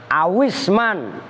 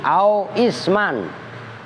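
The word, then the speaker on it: أو اسمًا: Awisman, kalau bacanya begitu, kalau dibaca langsung. Kalau dibaca putus-putus, au isman, karena isim hamzahnya hamzah wasol.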